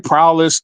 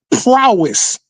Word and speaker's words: prowess: That nigga be saying prowess. I'm like, no, it's prowess.